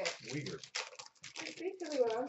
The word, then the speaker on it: Weegar: Weegar.